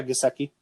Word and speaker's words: Gesicki: It's a Mike Gesicki. Is that how you say his name? Yeah, Gesicki.